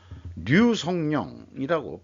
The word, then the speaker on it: 류성룡: 그리고 국내 남쪽에서도 유씨 중에서도 버들유씨는 필히 류성룡이라고 발음을 해야 제대로 된 장인애들 무시 안 하는 거다라고 또 그렇게 얘기들을 하고 있죠.